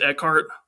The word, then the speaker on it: Eckhart: Caine, Maggie Gyllenhaal, Gary Oldman, Aaron Is it Eckhart? Is that how you pronounce his last name? Aaron Eckhart, yes sir.